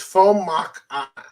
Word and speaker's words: Fomak: So Greg gives us the pronunciation, right? It's Fomak. Okay.